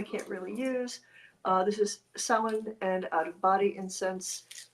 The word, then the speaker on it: Samhain: It's Samhain.